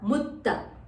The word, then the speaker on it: mutta: So first one is a mukta, the second one is a mutta. The th has to be repeated twice. Give a slight stress when you say mutta. Mutta.